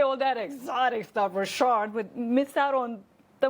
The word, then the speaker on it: Ri'chard: Robert Ri'chard. Ri'chard. So is Andrew your middle name? Yes, it is. So how are you going to say all that exotic stuff, Ri'chard, but miss out on the most beautiful name, Andrew?